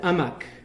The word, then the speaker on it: amok: The Malays can't pronounce the H in Arabic. So they say for the stupid in Malay is, in Arabic it's ahmaq. The Malays said amak.